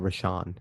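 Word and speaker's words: Rashan: Bob and I've been announcing rashon Gary's name wrong I've been saying we shot it's a rashon so I apologize Michigan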